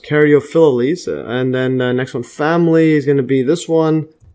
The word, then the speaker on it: Caryophyllales: Alright, actually I think it's pronounced Caryophyllales.